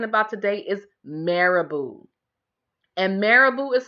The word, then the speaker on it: marabout: today is marabou and marabou is spelled em a are a B oh you see marabou but most people say it is particularly Americans they say mayor about marabou is a French word okay so it's spelled